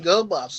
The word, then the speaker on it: Gobot: GW he called them GoBots like you would call people um dumb yeah yeah Goot Gobot with a hard G yeah yeah it's like